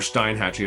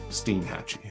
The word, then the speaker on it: Steinhatchee: next destination which was Steen Hatchy or Stein Hatchy as I was calling it cuz I I didn't know that the actual pronunciation was steam Hatchy really you should just